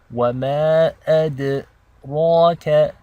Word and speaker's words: وَمَا أَدْرَاكَ: This ra is heavy and thick because unlike this ra, which took a kasra, this one takes a fatha. So that means we're pronouncing it with tafkhim in a very thick and heavy way.